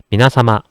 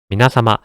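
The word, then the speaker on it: 皆様: 하지만 발음은 짧게 미나사마, 미나사마 가볍게 억양만 올려주시면 되겠습니다.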